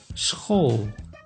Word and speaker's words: school: S plus C plus H, SCH, makes sch, like in school.